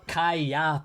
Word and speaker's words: Kayaba: Kaiba? We're watching Yu-Gi-Oh? No, Kayaba.